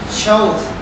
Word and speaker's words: showed: So the pronunciation is with this sound, showed.